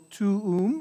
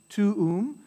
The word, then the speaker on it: tuum: It's Pater Noster, quies in celis, sanctificetur nomen tuum, so tuum, you're saying both use, tuum, so two syllables there, tuum, adveniat regnum tuum, so adveniat, this is four syllables, right?